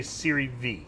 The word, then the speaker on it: Serie V: out of this uh siri v it is correct to say siri v yes it's not that is the correct way to say it and it